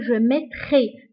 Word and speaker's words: je mettrai: فla lettre R كنطقوها بحال حرف الخاء. كنقول je mettrai. ماشي je mettrai. Normalement, هي la lettre R. ولكن كنقراوها ب je mettrai.